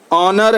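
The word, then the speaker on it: honour: सकते हैं के को ऑनर है एच ओ एन ओओ are owner H silent है किचन है के आई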